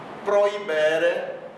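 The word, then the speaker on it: prohibere: Então aqui é proibere, o H está aí apenas figurando, ele não tem pronúncia.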